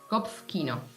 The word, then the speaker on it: Kopfkino: Well, how do you pronounce that one? Kopfkino.